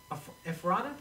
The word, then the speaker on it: Ephrata: In fact, Tony and I, we did a show in Ephrata? Is that how you pronounce it? Ephrata, Pennsylvania.